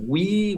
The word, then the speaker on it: with: Y esta palabra se va a pronunciar así, es el we, como el Nintendo Wii. Tú dices we, pero te mordes la lengua y soplas para hacer la TH, así, we.